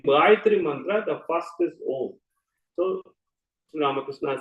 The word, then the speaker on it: Om: Om has got 3 syllables, 3.5, Akara, Ukara, Makara. That is A, U, Ma.